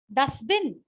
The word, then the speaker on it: dustbin: Dustbin, T. I simply swallow dustbin. Duster. I swallow T and I make it dustbin.